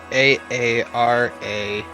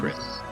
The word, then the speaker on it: Aarakocra: AARAKOKRAN. Thank you. Hold on. Aarakocra. It's KOCRA.